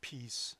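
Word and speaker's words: Pease: The reduction or the limitation is sometimes using the name, I believe it's pronounced peace limitations.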